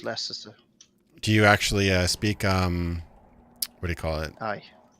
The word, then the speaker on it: Leicester: Yeah, You- it's Leicester.